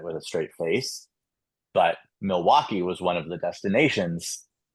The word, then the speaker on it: Milwaukee: I got to it and I was like Milwake and I just kept going. I even I mispronounced um Zurich.